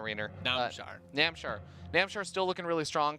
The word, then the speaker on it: Namshar: A lot of people were posting in the chat about how I pronounced Namshar. So now I'm going to say num, as in num nom.